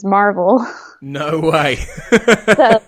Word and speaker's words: Maryville: calls it Maryville but in our area local dialect is Marvel no way so that's